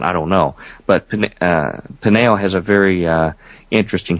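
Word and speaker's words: Peniel: jacob names that place pineal uh p-e-n-i-e-l slightly different spelling to nail almost identical pronunciation could be just a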